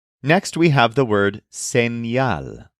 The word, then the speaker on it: señal: Next, we have the word señal, spelled S-E-N-Y-A-L.